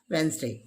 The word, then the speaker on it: Wednesday: again silent here bridge and wednesday not wednesday be silent here it's right pronunciation is wednesday next one is adjective